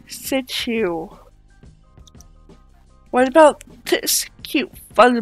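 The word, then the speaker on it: Shih Tzu: I sent you and no I am not saying that curse word it is pronounced situ what about this cute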